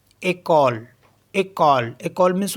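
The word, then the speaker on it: école: में हमारे पास ई सी ओ एल ई एक कॉल एक कॉल एक कॉल मींस होता है स्कूल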